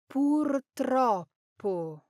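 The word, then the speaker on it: purtroppo: Now the rolling r is one of the trickiest parts of Italian pronunciation and portropo unfortunately is a perfect example. Even native speakers slip up because that tr cluster is tricky to say quickly.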